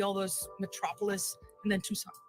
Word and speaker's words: Tucson: those metropolis, and then Tucson. Right. Yeah. And 90% of the people don't know how to pronounce Tucson. No, they don't. They say Tucson, Tucson. not Tucson. Yeah.